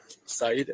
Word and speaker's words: Said: Said, SAID, like you said.